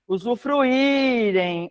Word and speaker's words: usufruírem: Eh, aos que usufrirem sabrá, cabem usufruírem, ó. Fru. Irém. Ele é tônico. Sim, porque não é usufruir, não é usufruirem, é usufruirem. É a sílaba que a gente espicharia, né? Se a gente fosse falar gritar a palavra, usufruírem. Então ele é tônico, ele está sozinho na sílaba, ele é acentuado.